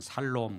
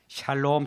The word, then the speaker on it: 샬롬: 와 모입시다 샬롬 예 발음을 잘못하면 살롬 그런 분이 계시네 샬롬 다시한번 이쁘다 샬롬 오